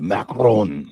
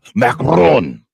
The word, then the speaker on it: Macron: So With a Macron. Sorry, I didn't pronounce that correct. Macron.